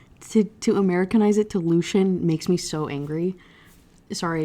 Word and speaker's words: Lucian: The only ones that are really relevant is we get introduced to Lucien, who I learned in book 3, it's pronounced with 2 syllables. Lucian is how I guess Lucy intended on saying it.